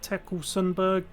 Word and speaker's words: Tekle Sundberg: to the situation with i believe his name is pronounced tekkel sundberg he is the poc